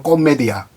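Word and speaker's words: Commedia: 라 디바나 코메디아, 정확한 발음은 코메디아, 신곡입니다.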